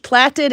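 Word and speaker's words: plaited: is what causes that plated edge. Plated edge platted edge sorry the British people are laughing at me. Platted edge it's spelt like plate p l a i t but in British it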